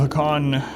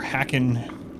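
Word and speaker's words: Hakkon: but I think the Jaws of Hakan, or Hakken, they pronounce it both ways in the game, depending on which person's talking.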